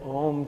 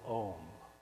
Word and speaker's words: Om: And this is the concept that essentially there are 4 parts to the syllable Om. There's the Ah, which starts in the lower throat, O, which is in the middle here, and the and the